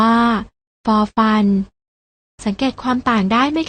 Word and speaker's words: ฟ: ไร ใช่ แล้ว ค่ะ พยัญชนะ ตัว แรก อ่าน ออก เสียง ฝอ อ่าน ว่า ฟอ ฝา ส่วน พยัญชนะ ตัว ที่ 2 อ่าน ออก เสียง ฟอ อ่าน ว่า ฟอ ฟัน สังเกต ความ ต่าง ได้